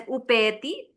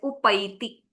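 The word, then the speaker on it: उपैति: So this should not be read as upayati. It has to be read as upaiti.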